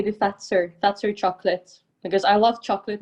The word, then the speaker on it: Fazer: Fazer.